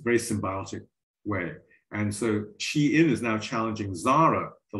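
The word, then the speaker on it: Shein: originally started in chinese not shine but pronounced she in because it's clothing for for for females and at least one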